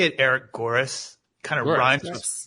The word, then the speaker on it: Goeres: I say it Eric Goeres. Kind of rhymes with chorus is how I say it to help people out.